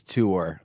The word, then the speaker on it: tour: It is tour. Yeah. Tour? Tour. Tour. Tour. I like to get out. Some of the East Coast people, they say tournament.